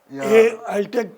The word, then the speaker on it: ELTEK: उनकी कंपनी का नाम था ELTEK, वो भी एलटेक की प्रोनाउंस होती थी, लेकिन शुरुआत ई से होती थी।